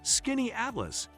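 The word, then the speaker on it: Skaneateles: Number five brings us to Scanyads, pronounced Skinny Atlas.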